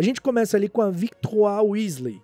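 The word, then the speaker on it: Victoire: começa ali com a Victo Weasley a pronúncia do nome dela é exatamente essa porque é francês e ela recebeu esse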